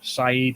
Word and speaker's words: Side: uh i'm looking at antalya saeed or somewhere like that next time that's pronounced right it's it's actually spelled side how much is a